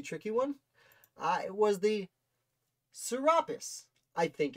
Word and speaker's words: Serapis: is a really tricky one i was the serapis i think it's pronounced serapis sir saripus serapis the serapis a ship that